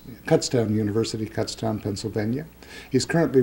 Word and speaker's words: Kutztown: Then has his master's degree in economics from Kurtztown Kutztown University, Kutztown, Pennsylvania.